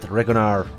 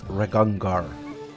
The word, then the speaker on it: Regongar: Octavia told me, excuse me, you are Rekongar, not Regonar, but Regongar.